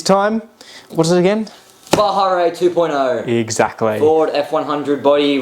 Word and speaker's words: Baja Rey: another video this time what is it again bahare 2.0 exactly for F100 body with the Eisenhower